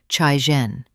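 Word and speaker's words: cairen: or rank of concubine, that in Chinese is pronounced chaien.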